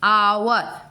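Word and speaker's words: hour: आवर, OUR इतने तक pronunciation होता है, H का प्रोनाउंसिएशन नहीं होता है।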